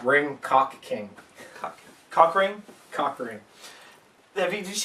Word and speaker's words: Ring Ka King: It's pronounced Ring Cock King.